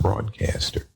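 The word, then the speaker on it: Broadkaster: but they had broadcaster spelled with a K rather than a c but still pronounced broadcaster so at that time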